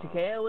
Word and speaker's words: Takeo: Takeo is how you say it.